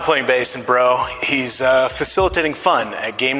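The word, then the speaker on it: Breaux: When he's not playing bass in his band, Bro, spell it, B-R. B-R-E-A-U-X.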